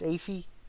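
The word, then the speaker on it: Aoife: of dawn versus now i think it's ify valkyrie or ether valkyrie that's it ether valkyrie spelt weird but that's how you say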